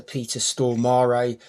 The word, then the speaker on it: Peter Stormare: in this played by the eccentric Swedish actor Peter Stormare. I know it's pronounced like that because I've heard him say it.